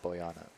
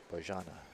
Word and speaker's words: Bojana: Now I talked to her and she said it was not Boyana. Bojana.